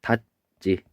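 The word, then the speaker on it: 닫지: 얘는 발음하면 닷지라고 발음이 돼요. 그래서 얘는 이 디귿. 얘는 보면은 디귿 뒤에서 어떻게 발음되냐면 여기 니은이 아니고 디귿인데요. 선생님 잘못 썼어요. 여기 디귿 여기 잘못 썼어요. 그래서 디귿 뒤에서 뭘로 바뀌냐면 지읒이 쌍지읒으로 바뀐다.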